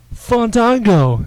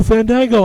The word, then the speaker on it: Fandango: that's how he talks no you will say my name right and Chris Jericho says wait Fango and he and he says it like that like as Fandango walks away he goes no Fandango I haven't got my